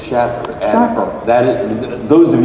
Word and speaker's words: Shaffer: You know, he pronounces it Schaffer. Schaffer. I was pronouncing it Schaefer too. Okay. But it's Schaffer.